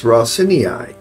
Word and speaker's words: Raseiniai: campaign and I did look up how to pronounce this it's rosini so there you go we're going to load